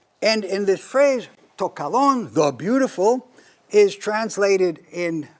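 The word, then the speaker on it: καλόν: And to is Greek for the, and kalon is the neuter of kalos, the beautiful, to kalon. Both times, one lambda, accent on the second syllable.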